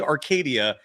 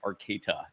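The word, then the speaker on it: Arcata: And if I sounded like I said Arcadia, that was not the intention. I I know full well it's called Arcada. It's But you don't say the T like a T. You pronounce it like a D. It's Arcada.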